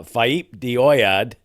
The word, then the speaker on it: Faaip de Oiad: under three minutes uh faip dead I've been told that's how it's supposed to be pronounced uh and that track